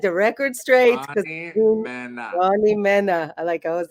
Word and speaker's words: Mena: Ever since I was a kid, it's like it's Mena. Mena, not Mina, Mena, not not Mina. Mina. Definitely not Mina.